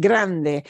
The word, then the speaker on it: grande: combination Grande okay and notice that at the end there are no silent E's so we pronounce it Grande the word for big